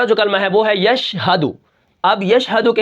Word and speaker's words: یشہدو: یا شین زبر یش، ہا زبر ہا، یش ہا، دال پیش دو، یشہدو وقفاً یشہد.